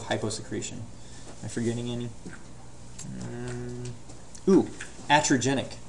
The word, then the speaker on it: iatrogenic: Iatrogenic. I-A-T-R-O-G-E-N-I-C. It's I-A-T-R-O. Iatrogenic. It's pronounced iatrogenic.